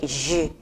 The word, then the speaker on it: G: In English we say it G, but in French it's a bit different. We say it like je. Je. It's like it's interchange of between G and J. So in G we pronounce it like J. So it is like je.